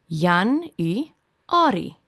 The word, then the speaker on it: Januarie: Jan-u-ari.